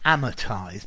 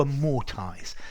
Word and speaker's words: amortize: to amortize to amortize I hear the Americans saying amortized but I would say to a more ties this is to pay